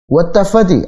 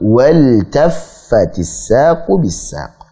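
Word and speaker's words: وَالْتَفَّتِ السَّاقُ بِالسَّاقِ: Sehingga bacanya bukan wattafati tapi apa? Waltaffatis saqu bis-saq. Iltaffa ya. Waltaffatis saqu bis-saq. Sehingga lamnya dibaca jelas.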